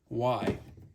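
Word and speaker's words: wye: be what's called a y now why is it called a y well it's kind of obvious right well it's not actually spelled with just the letter Y it's spelled w ye and basically this fitting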